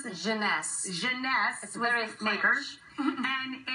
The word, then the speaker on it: Jeunesse: How do you pronounce this? Janness.